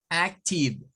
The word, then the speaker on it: active: Este siempre se pronuncia con un sonido de I, corto, tive, como tive, active, tive.